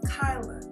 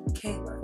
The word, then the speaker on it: Kyla: is Kyla, and my name is Kyla, not Kayla. All right, that's kind of one of my big pet peeves when people call me Kayla, because it's literally spelled or pronounced how it's spelled. K-A-I is Kai, L-A is La, Kyla.